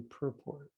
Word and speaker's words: purport: text 39 per port whereas some non-americans say some european saying purpo it's actually purport you say that how